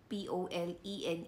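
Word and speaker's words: Polène: parang polen ba yung poline yung p o l e n e ay yes Oo ayun pala pronounce pala siya as polen so sabi niya doon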